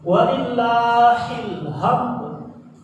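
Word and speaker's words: ولله الحمد: Ada dua kesalahan di sini dalam pengucapan. Sering terjadi walillahi itu berubah menjadi hak kecil. Sementara alham hak kecil berubah menjadi hak besar. Gini dia. Walillahil hamd.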